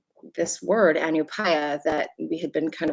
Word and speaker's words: ANUPAYA: So it can be a little hard for people to pronounce, and yeah, but that's ANUPAYA.